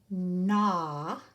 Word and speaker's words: gnaw: my video and write these three words NAT na and na means to chew like a beaver